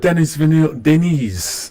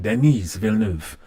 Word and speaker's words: Denis Villeneuve: Favorite Denis Villeneuve. I'm saying it wrong. Denis Villeneuve.